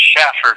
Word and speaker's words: Shafer: you mentioned Jennifer Shafer her name is actually pronounced Shaffer just so you know when you actually reach her okay it's pronounced Shaffer nation not safer okay